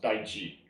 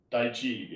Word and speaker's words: Taiji: It's actually pronounced Taiji. Taiji in China, right?